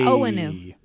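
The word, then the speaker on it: Onwenu: Michael, okay, I don't want to pronounce his name wrong, Owenu? Yeah, Owenu.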